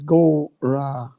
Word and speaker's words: Gauranga: We will divide it into 4 syllables, Gauranga.